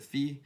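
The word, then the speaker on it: φ: feminine i don't know i pronounce it fee let's just label some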